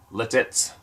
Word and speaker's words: Lititz: Lebanon County I live in a town called letez pronounced letez Lititz l-i-t-i-t-z which is only about a 20